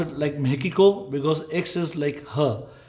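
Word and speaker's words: México: बट I would pronounce it like मेकिको because x is like her.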